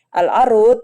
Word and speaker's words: العروض: Al-arut ya bifatil ain a, jadinya a bacanya pakai fathah. Jadi bukan urut, bukan irut gitu ya. Pakainya bifatil ain, arut.